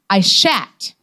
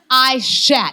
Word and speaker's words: Aishat: The problem is that the correct pronunciation of my full first name is Aishat. Aishat.